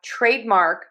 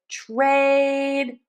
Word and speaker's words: trademark: So for trademark we are going to make sure that we stress syllable number one make that nice and long that vowel that long a trademark. And then we're going to end in mark. That is going to have less stress. We are going to have that R vowel and then end with the K.